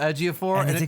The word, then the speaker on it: Ejiofor: Daniels Mara Chiwetel Ejiofor who I never knew how his name was pronounced but in my head it was qu Attila Ejiofor I thought if I ever met about insulted my pronouncing of that way nope that turns out to be exactly as it's spelled as somebody who has